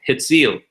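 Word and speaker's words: הציל: But this one's so easy to recognize because it even rhymes with hifil, hitzil.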